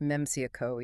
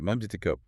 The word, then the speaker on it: Memcyco: They spotlight a company called Methico, pronounced Meio. Yeah, right. Meico.